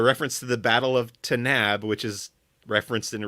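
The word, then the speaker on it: Tanaab: at the Battle of tab but Bill Burr pronounces it tanb um but when you look at the caption it is spelled the same so that was like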